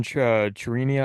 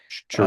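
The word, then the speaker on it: Chourio: big home runs that they hit with Jackson Chirino, I can't say his name. Churio.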